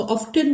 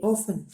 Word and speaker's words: often: Which industry is often यहाँ T silent होता है, हम उसको ऑफ्टन नहीं कहते, ऑफन.